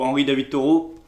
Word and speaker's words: Henri David Thoreau: Donc ça c'est un livre un petit peu aussi de philosophie, donc David Thoreau ou Henri David Thoreau. Alors bon, je prononce à la française, hein, mais bon, c'est un écrivain donc du 19e siècle.